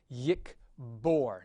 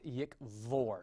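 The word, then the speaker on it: יִקְבֹּר: It gets the hard pronunciation yikbor, not yikvor.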